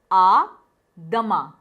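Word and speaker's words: à demain: Adama, which means see you tomorrow. The pronunciation is adama.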